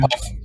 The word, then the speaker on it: Wodaabe: The I'm sorry if I mispronounced, but the No, it's Tuareg and you pronounce it Wodaabe.